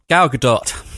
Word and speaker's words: Gal Gadot: How do you pronounce it, Phil? Gal Gadot.